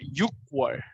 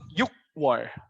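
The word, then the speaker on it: 유월: my special one right june is not a yuk war because they changed the pronunciation but it cuz that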